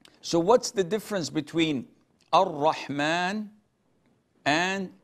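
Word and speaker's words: الرحمن: We don't say Al-Rahman, Al-Rahim. We say Ar-Rahman, Ar-Rahim. We merge it and we put an emphasis on the R.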